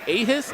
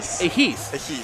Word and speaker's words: Ehis: We got Chug and we got Ahis, I believe is what how that's pronounced. Uh Ais, sorry about that.